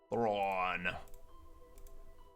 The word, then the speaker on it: Thrawn: Thrawn. There you go, I pronounced it without an F.